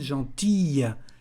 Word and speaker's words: gentille: Une personne gentille. Person is feminine, so gentil, double L-E. And you can hear here the pronunciation of the end, gentille.